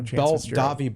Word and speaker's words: Davi: Davi Belfort. You don't say the T. The T is silent. Davi Belfort.